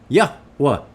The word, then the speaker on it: Yahweh: Yod He Wah He Yahweh. That's his name. Keep practicing it. If you have trouble pronouncing it, it's demons that are blocking you from getting it.